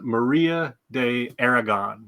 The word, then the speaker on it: Maria de Aragon: lady um her name I want to make sure I'm I'm pronouncing her name properly it is Maria de Aragon not to be confused with Aragorn from Lord of the Rings right they're a little different they're a little different